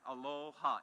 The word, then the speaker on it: Aloha: goes something like this Aloha it's actually two syllables the first syllable in Aloha is alow which means to give and ha means life so when I say